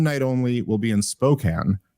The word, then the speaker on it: Spokane: only will be in Spokane Spokan Rob that's how it's pronounced I've ref to pronounce it correctly now I've been trying to